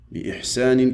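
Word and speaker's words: بإحسان: Bi'ihsanin qui veut dire avec bonté. Quand elle est en dessous du alif, elle se prononce toujours i.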